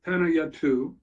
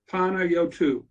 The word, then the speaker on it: Panayiotou: I believe that the correct pronunciation, and he can correct me, is Panayiotou. Panayiotou.